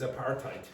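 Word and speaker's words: apartheid: So the pronunciation of this is a partite.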